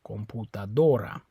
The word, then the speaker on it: computadora: Stress is on that O, computadora.